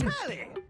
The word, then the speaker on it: Telly: Okay, the name telly rhymes with Nelly.